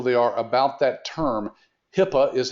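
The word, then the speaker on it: HIPAA: today how knowledgeable they are about that term Hippa is how it's pronounced of course it's an acronym for something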